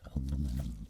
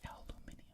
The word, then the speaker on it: aluminum: probably a titanium stainless steel blend titanium stainless aluminum blend what would that be called thai stylium